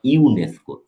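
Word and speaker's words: UNESCO: এটার সাউন্ডটা আমি আপনাদের দেখাই, সাউন্ড হলো এরকম, ফোনেটিক্স হলো এরকম লিখবে, এটা উচ্চারণ ইউ, এটা একটা কনসোনান্ট সাউন্ড।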